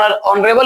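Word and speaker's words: honorable: ओ के पहले एच है तो एच साइलेंट होगा तो ओ शुरू करेंगे।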